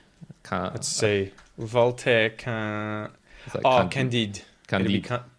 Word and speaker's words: Candide: I'm not sure how would you pronounce Candide in French, something like that. Candida. Is it like candidate? No. Candide.